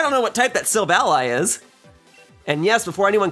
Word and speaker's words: Silvally: I don't know what type that Silvally is. And yes, before anyone comments, it is pronounced Silvally and not Silvally. I thought it was Silvally for the longest time.